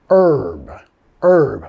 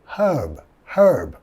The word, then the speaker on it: herb: En Estados Unidos vamos a decir herb. Bajando la H, comiendo la H, más un de pirata, o igual a decir como her más b. Herb. Y en Inglaterra sí van a pronunciar la H y va a ser un poco más alrededor de herb, ¿ok?